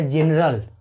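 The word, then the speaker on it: general: आगे देखते हैं GENERL, आप यहाँ पे भी देख रहे हो कि जी के बाद ई है तो यहाँ पे भी हम जी का उच्चारण ज करेंगे।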